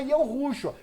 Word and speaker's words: Yahushua: Na realidade, é Yahushua.